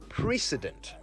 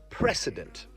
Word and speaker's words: precedent: have you noticed how the word precedent is pronounced almost exactly like the word president now i've also noticed how some people mispronounce it as precedent well it's precedent p r e c